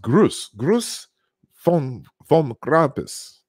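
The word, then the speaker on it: Gruß vom Krampus: Okay, it's pronounced Gruß von Krampus.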